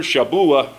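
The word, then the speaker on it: שבוע: krian shabua and I used to always go Shabu Shabu and he got tired of that so he got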